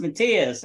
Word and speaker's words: Matias: to was talking about Matias I said who's Matias and um he says your character from uh Brazil I said Matias he says it's pronounced mathus I was like oh